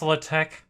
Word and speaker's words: LaTeX: Yeah, this is another one where it's like, well, that's not how I would have pronounced it, but some math dudes were like, yeah, bro, it's French. It's pronounced LaTeX.